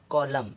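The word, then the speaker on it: column: अब इसको कॉलम, डैम, इसी तरह। अब ओ साइलेंट, ओ लेटर कभी भी साइलेंट नहीं होता है।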